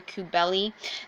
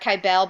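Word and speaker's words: Cybele: This one's Rhea or Kubeli. Most people pronounce that Kybele, but it's actually closer to Kubeli.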